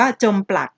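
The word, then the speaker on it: จมปลัก: จด จำ หน้า เช่น คำ นี้ อ่าน ว่า จม ปลัก แต่ ใน ขณะ ที่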